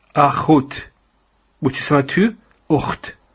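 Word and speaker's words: אח: And this word is pronounced as akh.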